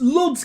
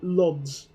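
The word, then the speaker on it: Łódź: O with a line is like a U. Gotcha, so Lodz. Or Ludes.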